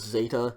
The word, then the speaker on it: zeta: dz sound de zeta for the purposes of this class let's just make this simple and pronounce zeta just like an english z okay canadian zed um we're